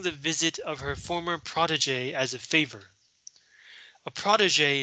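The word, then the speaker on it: protégé: so that's what uh protege means it's french it's french so the g is pronounced and it's her former protege um so she's receiving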